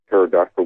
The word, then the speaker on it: pterodactyl: Why can't you hear a pterodactyl going to the bathroom? Cuz the P is silent.